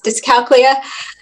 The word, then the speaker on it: dyscalculia: Yes, dyscalculia.